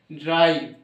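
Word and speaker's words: drive: রফলা আকা হর্ষই ভ, ড্রাইভ। এইরকম সিস্টেমটা হবে যে এইভাবে ডয় রফলা আকা হর্ষই ভ, ভটা কোথায়, এ ভি, শেষে ই আছে মানে ইটা হবেই না উচ্চারণটা, তার বদলে সামনে যে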